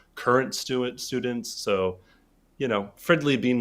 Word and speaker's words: Fridley: came out right here yep Fridley that's how you say it I was like